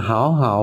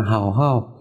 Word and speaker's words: 好好: Ta không đọc là hảo hậu mà phải đọc là hầu hậu. Tính từ lặp lại thì cái từ lặp lại phía sau chúng ta đọc thành thanh nhất.